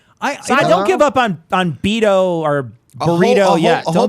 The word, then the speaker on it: Beto: wrong I don't remember I'm surprised oh I'm pronouncing it like my Spanish - class taught me to you know Beto so that's oh there you go a lot